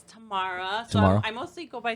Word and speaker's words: Tamara: welcome um so so is it tamara or tomorrow i know a lot of people always ask me that they don't know how to pronounce my name but it's tamara so i mostly go